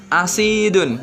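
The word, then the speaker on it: أَسِيد: Contohnya, misaluhu, contohnya asidun. Nah, itu kata yang pertama dan yang kedua sama penulisannya, akan tetapi pelafatannya berbeda. Yang pertama kita membacanya asid, yang kedua kita membacanya usaidun.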